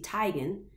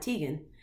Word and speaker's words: Teigen: name and she reference Christy Tigan that's actually how you say her name is not Teigen when she rebuild that